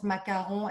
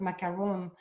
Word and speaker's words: macaron: be sure they could pronounce macaron and not macaroon so it was really